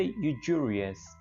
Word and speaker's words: usurious: जब इसके हम स्पेलिंग देखते हैं तो ये थोड़ा अलग लगता है, लेकिन इसको बोले थे यूजूरियस, यूजूरियस। तो बेसिकली ये एस यू जो है ये ज का साउंड दे रहा है, यूजूरियस, यूजूरियस, सूदखोर।